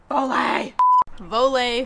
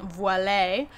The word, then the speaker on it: Voile: time i was saying voile but they are not a french company they're actually a utah based company and these are made